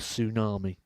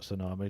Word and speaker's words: tsunami: Within the English language, there are very silent letters. How do you explain the T at the start of tsunami? 95. Well, I can only assume it's not an English word.